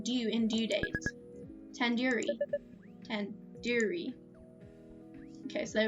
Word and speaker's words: tandoori: at least recognize the tandoori chicken you're saying it wrong wait really tandoori tandoori the do is like in isn't like in door it's like in doodoo head are you five years